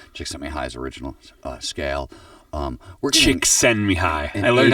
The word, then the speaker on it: Csikszentmihalyi: We're getting Csikszentmihalyi.